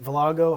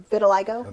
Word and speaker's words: vitiligo: Is it Villago? How do you say it correctly, Gay? Vitiligo. Vitiligo. right. Vitiligo. That's my Rhode Island accent.